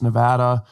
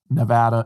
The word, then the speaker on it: Nevada: in Las Vegas Nevada I used to pronounce Nevada Nevada before I was uh became a little more cultured when I was in University my buddy was from Nevada and he told me that pronunciation was in fact Nevada not Nevada but interestingly enough while